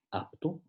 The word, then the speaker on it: apto: En la articulación de P, en apto, solo se dan la implosión y la oclusión, sin llegar a ocurrir nunca la explosión que queda suprimida por la T que sigue, que es también oclusiva.